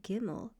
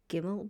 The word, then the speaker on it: gimmel: word august because today gimmel will only ever make the g sound as in the word goat. So you don't have to worry about gimmel changing sounds because we're using the modern pronunciation.